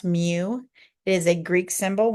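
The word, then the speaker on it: μ: symbol right here this symbol right here it's pronounce Mew it is a Greek symbol when I write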